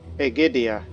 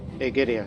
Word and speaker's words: Egidia: Egidia, that's how you say her name. Egidia. It's Greek origin, you know.